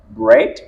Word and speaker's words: bread: la prononciation a changé il y a d'autres exemples dans lequels le digramme E A est prononcé e par exemple bread head pleasant et peant ce sont autant de mots dans lesquels le digramme EA est prononcé est il faudrait donc pour